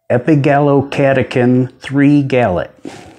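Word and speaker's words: epigallocatechin-3-gallate: some green tea each day how do you pronounce that it is epigallocatechin 3 gallop so next time you're hanging out with somebody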